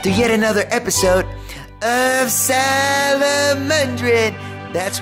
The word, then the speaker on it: Salomondrin: Welcome back to yet another episode of Salomondrin. That's right, that's how I pronounce it.